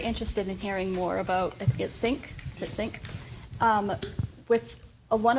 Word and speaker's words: CINC: Sync software it's spelled CINC.